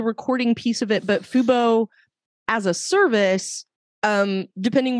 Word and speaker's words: fubo: it was definitely pretty low cast yeah and fubo I think I pronounced that right f-u-bo-tv that's that's right that's